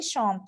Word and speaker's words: chantent: exactement il chante de vous écrivez ent à la fin pour la conjugaison mais vous ne le prononce pas alors ils chantent de très bien et